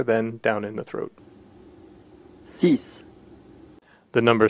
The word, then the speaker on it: six: six, The number six is a pretty simple one. It's like saying the word sí in Spanish and then adding an S sound to the end of the word, so we get sis.